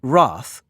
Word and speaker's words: rath: in guire and Gimbal and pronounce wrath to rhyme with bath for this 61,000 fresh